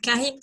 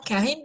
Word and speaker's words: Charybde: Mais par contre, on sait qu'ils vont devoir passer entre Charybde et Scylla, même si CH pour Charybde, on prononce que en grec, hein, c'est le qui.